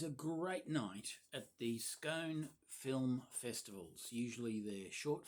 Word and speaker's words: Scone: couldn't make it to SCONE, pronounced scone, not scone, like some of the Melbourneites who I thought they